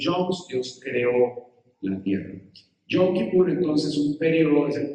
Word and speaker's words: Yom Kippur: Esto viene de un término hebreo que se pronuncia Yom Kippur.